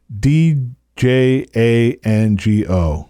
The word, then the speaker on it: Django: it the guy asks d j a n g o d Jango the D is silent and then the other